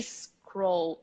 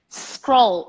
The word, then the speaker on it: scroll: any difficult sounds so the beginning of the word scroll is not a scroll is Crowell that's the problem for most people scroll you start from that not from the e scroll bar scroll bar